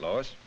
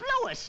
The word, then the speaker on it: Louis: Huh, sounds like there might be a story at the plant, Lois. Lois? Me name is Louis, not Lois. Gee whiz, everybody interpolates me name wrong.